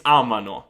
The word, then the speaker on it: amano: Usually students get the loro form wrong when they're pronouncing the verb. So instead of saying amano, they say amano. And that makes sense because you say, oh, amiamo, amate, amano. No, it's amano.